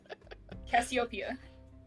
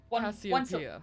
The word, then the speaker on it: Cassiopeia: Cassiopeia. Cassiopeia. Well, not actually one syllable, but you know what I mean.